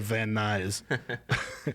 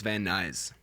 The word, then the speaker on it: Van Nuys: Yeah, that guy remembers that day when I didn't drive that guy to Van Nuys. Yeah, you're gonna take the bus, buddy. When did you learn how to pronounce Van Nuys?